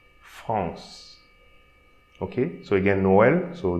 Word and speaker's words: France: So, the first line, so here we are not going to pronounce the E. So we don't say France, we'll say France. So we pronounce the consonant before the E. France.